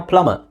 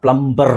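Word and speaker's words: plumber: silent ಮಾಡ್ತೀರ ಮಾಡ್ತಾರೆ ಅದಕ್ಕೆ ನಾವು ಪ್ಲಮರ್ ಪ್ಲಮರ್ ಅಂತ ಹೇಳಿದ್ರು ಓಕೆ ಅಥವಾ ಪ್ಲಮರ್ ಅಂತ ಹೇಳಿದರು ನಾಟ್ ಪ್ಲಂಬರ್ ಪ್ಲಂಬರ್ ಅಂತ ಹೇಳಬೇಡಿ ಓಕೆ ಸೋ ಅದು ಸರಿಯಾದ ಪ್ರೊನೌನ್ಸಿಷನ್ ಅಲ್ಲ ನಮ್ಮ ಇಂಡಿಯನ್ ಸ್ಟೈಲ್ ಅಲ್ಲಿ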